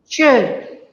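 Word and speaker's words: Chöd: Venerable, are you talking about, I don't know if I'll say it properly, but chod or chod or chod? Chud.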